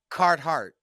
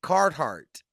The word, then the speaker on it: Carhartt: issue jacket okay oh card heart huh Carhartt Carhartt you said it right the second time not the third time card heart okay okay Carhartt there